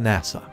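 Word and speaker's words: 星空: When she asks NASA what he thinks, he says it's a lot better than his, which is written as Hashiora but is pronounced NASA.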